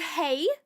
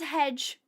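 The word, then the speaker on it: hej: Swedish, which is is spelled H E J, but it's pronounced hey, but I was reading it as hedge.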